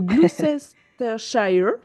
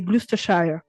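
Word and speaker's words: Gloucestershire: mal le prononcer le glucesthire dans un je sais très bien dire SH le reste c'est plus compliqué je crois qu'on dit pas le CE et je crois que c'est glusthire voilà et ben tu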